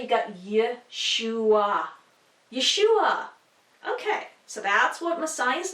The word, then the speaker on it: Yeshua: all and you'd say you got ya schewe yeshua okay so that's what Messiah's name looks like